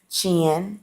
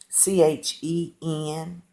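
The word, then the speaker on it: חֵן: It comes from the word chin, or uh, Cain is really how it's pronounced, Chen.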